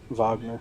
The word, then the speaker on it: Wagner: Wagner. That's how you say it.